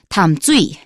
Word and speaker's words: Tamsui: Now, you pronounced it the way we pronounce it in Mandarin. If it were southern Min or the Taiwanese dialect, they'd say Tamsui. And if you're just reading the romanization, I bet most people would say Tom Sui.